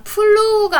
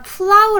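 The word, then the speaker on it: plow: 한번 찾아 볼까요 자 플루가 아니라 프라우 라고 읽어야 되요 그림 한번 볼까요 자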